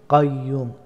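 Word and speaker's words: القيوم: আল হা হাইয়ুল কাইয়ুম কাইয়ুম হা হরফটি গলার মধ্যখান থেকে উচ্চারিত হয় এবং এই যে আপনারা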